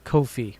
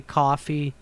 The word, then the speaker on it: Ko-fi: to say it correctly I'm never going to say coffee even though that's the whole stick to the site I read it I say Kofi anyway but thank you again